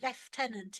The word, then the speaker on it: lieutenant: It's left tenant in England.